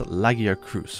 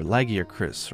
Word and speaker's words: Lagiacrus: Next up is everyone's favorite flagship from the third generation, which is Lagiacrus, or Lagiacris, or however you want to pronounce it.